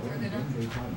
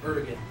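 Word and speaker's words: Erdoğan: Is it Taya Erdogan?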